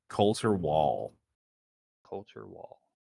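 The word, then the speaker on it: Colter: Coulter Wall. Coulter Wall. How do you spell it? C-O-L-T-E-R. Oh, just the way it sounds.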